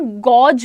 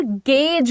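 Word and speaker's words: gauge: Pronunciation गॉडज नहीं होता। Again A यू का जो एक कॉम्बो होता है, जनरली हमें ये सिखाया जाता है कि इसमें ओ का साउंड आएगा। दैट्स नॉट द केस बेटा। इसमें हम यहां पर गेज बोलेंगे। यह पता नहीं क्यों बट यह ए का साउंड ले रहा है। गेज बोलेंगे।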